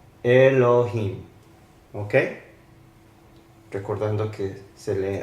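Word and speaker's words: אֱלֹהִים: Entonces, esta es la E. L con O, esta es la H, la I. En este sentido no se pronuncia la Yod porque es parte de la I y la M.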